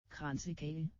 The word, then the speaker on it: Kransekage: But I really kind of wanted to know how we actually pronounce this. Kransekage.